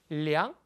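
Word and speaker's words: 量: 량, 동사로 쓰였을 땐 이성으로 발음합니다.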